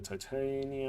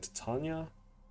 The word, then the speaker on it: Titania: so let's go to Titania or Titania I prefer saying to Tanya but apparently the canonic pronunciation is to uh Titania I'm not sure so let's start with